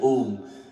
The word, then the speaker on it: Om: The real way to chant Om is it have U and Ma. U and Ma. This is the way you chant Om.